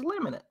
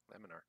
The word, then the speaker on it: Laminar: It's Laminar? I thought that was Laminate. Or Gemlight Bogdan Laminar. Yeah, Laminar.